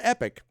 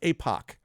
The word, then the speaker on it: Epoch: I used to think it was epoch, and then epoch, Tupac. I think it's epic, right? But it's not epic. It's APOC. So like APOC, poke, is what we're looking at.